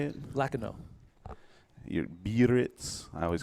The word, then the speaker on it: Biarritz: You're Biarritz.